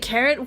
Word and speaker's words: Karin: You spell your name K A R I N and not pronounce it Korean. You just pronounce it Karen.